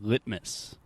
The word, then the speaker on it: litmus: litmus litmus nice so when I'm really speaking slowly and I say lit Miss I'm using what we call a true T sound so it the only difference between a true t and a stop T is with the stop T I am not aspirating and aspiration is just a complicated way to say I am not making the T sound right so instead of saying litmus I am saying litmus litmus perfect but